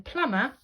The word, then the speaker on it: plumber: and again like before in plumber we have that silent be after the M and then the seventh